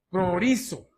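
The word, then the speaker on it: προορίζω: Es una palabra, viene de una palabra griega que se pronuncia prorizo.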